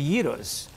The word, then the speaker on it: gyro: And we also have the gyros, which a lot of people pronounce gyros. Yes. Yes. I'm glad you're clarifying this for us. It's actually gyro.